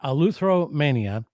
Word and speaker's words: Eleutheromania: to say it so someone who repairs guitars is a luther so that's like the first half of the word and then the country romania so you just put